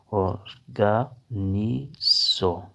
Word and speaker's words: organizzerò: اکانتو، اکانتو، اکانتو۔ تستارو، اکانتو، تمہارے ساتھ کھڑا رہوں گا۔ تستارو، اکانتو، میں تمہارے ساتھ کھڑا رہوں گا۔ اورگنیزو، انتظام، اورگنیزو، انتظام۔ اورگانیزو، اورگانیزو، اورگانیزو۔ Organizzerò il soldi، پیسوں کا انتظام